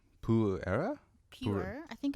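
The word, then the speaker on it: Pu-erh: is a p purera pure I think it's called It's pronounced pure yeah the it has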